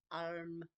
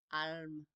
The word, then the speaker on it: Ailim: It's spelled Ailim, pronounced Alm. Alm.